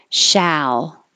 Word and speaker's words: shall: Shall. Shall we? And the vowel is a.